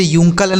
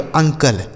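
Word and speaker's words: uncle: इसे यूंकल नहीं पढ़ेंगे। अंकल।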